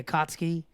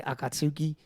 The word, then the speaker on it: Akatsuki: nobody but like like the akatski yeah I remember when I was a kid a lot of people would call it the Akatsuki I get akatuki well cuz that's how it spelled that's how it's spelled is it really well